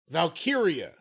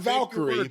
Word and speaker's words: Valkyria: It's Lyra Valkyria. Not Valkyrie.